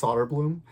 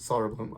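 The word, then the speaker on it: Söderblom: I think that's it's actually I think it's pronounced Soderblom, so I'm gonna pronounce it Soderblom.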